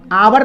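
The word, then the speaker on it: hour: इसको पढ़ते हैं आवर, तो इसका उच्चारण एच का उच्चारण यहाँ पे अ है, आवर पढ़ते हैं, हावर नहीं पढ़ते हैं, इसको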